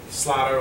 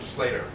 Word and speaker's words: Slatter: Slatter, all you do is take Platter, drop the P, put an S, and get Slatter. Most people want to pronounce it Slater.